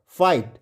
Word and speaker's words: fight: या फिगट नहीं पढ़ेंगे, इसमें फाई और GH क्या हो गया साइलेंट हो गया, तो GH भूल जाइए, FI फाई और T से ट फाइट।